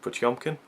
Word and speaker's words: Potemkin: I read some of the booklet, and it's pronounced Battleship Potemkin.